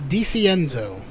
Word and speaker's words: DeCenzo: DeCenzo. DeCenzo. Okay. Yeah, the I is silent.